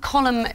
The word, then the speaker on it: column: Horrifically, they're all words that close with a silent letter. Oh, crumb, okay. Column, debris, crochet, you do not hear the last letter.